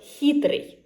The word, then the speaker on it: хитрый: And also it should be a narrow gap through which the air would pass. So h. For example, хитрый, cunning.